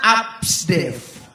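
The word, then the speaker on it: ABCDEF: Jadi A sampai F itu bacanya ABSDEF. ABC itu kan bacanya ABS. Tambah DEF digabung ABSDEF. Oke.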